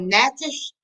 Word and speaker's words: Natchez: Yeah, when now I don't know if Ella has had the opportunity to study about it's called Natchez. It's like how you spell that? It's Natchez. CHEZ. Yes.